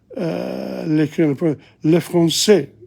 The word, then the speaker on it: le français: Le français, you don't pronounce the S.